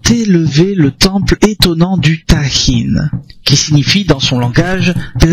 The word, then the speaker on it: Tajín: Donc, ça s'écrit T-A-G-I-N, mais ça se prononce Tahin.